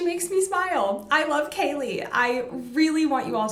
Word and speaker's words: Kaley: but plug them again yes so my name is spelled k-a-l-e-y last name is you can find my performance Instagram Kaylee underscore and for makeup Artistry everywhere I am at Kaylee Beauty awesome and we'll have the links